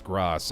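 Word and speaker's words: grâce: Pronounced Gras? Someone got mad at me and said it's Gras. I'm gonna call it coup de grace from now on.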